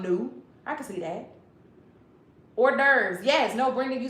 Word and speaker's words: hors d'oeuvres: Hors d'oeuvres. Yes. No, Brenda, you spelled it right. That's how you spell it. Hors devours if you don't know French.